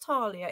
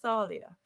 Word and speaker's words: Thalia: If it's Thalia, it's not Talia, it's Thalia.